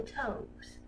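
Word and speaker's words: toves: how to pronounce slithy toes. The I in slithy is long, as in rhyme, and toes is pronounced so as to rhyme with grows.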